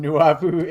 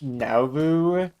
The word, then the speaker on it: Nauvoo: You could you could do the funniest thing right now in Newu, Illinois. Being raised Mormon is different from being Mormon. Pronounced Nauvoo.